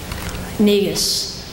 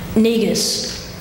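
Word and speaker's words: Negus: loudly for the judges neus one more time neus neus nigas n e g u s nigas absolutely stunned but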